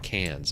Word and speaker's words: Cairns: It said like cans.